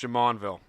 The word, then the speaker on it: Jumonville: It's And pronounced Jamonville.